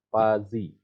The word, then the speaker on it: fuzzy: Jadi tulisannya Puzi, membacanya ini Pazi dengan Pazi biasanya.